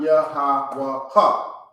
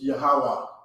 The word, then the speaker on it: Yahweh: Okay, it's silent. Drop the last sound on this character. Okay, so now it's Yahweh, not Yahweh, not Yahweh ha. It's Yahweh.